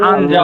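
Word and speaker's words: 앉아: হ্যাঁ এটা একটা গ্রামার এখন উচ্চারণ কি হবে বলেন দেখি এটা আঞ্জা হবে আঞ্জা আঞ্জা আঞ্জা আঞ্জা মানেও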